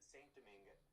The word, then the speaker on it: Saint-Domingue: I'm just going to say it like you, Saint-Domingue.